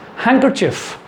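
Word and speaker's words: handkerchief: Next, हैंकरचिफ। इट्स हैंकरचिफ। हैंकरचिफ, ध्यान देंगे, हैंकरचिफ। Next, handsome. Handsome, not handsome, it's handsome. Exact pronunciation क्या होगा?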